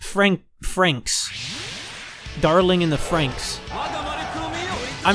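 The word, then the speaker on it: Franxx: the japanese title dotting in so it's pronounced frank franks darling in the franks i'm not good at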